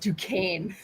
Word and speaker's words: Duquesne: it's pronounced Duquesne. Oh, Duquesne. I'm sorry. Yeah, she's a professor at Duquesne, if I say it right.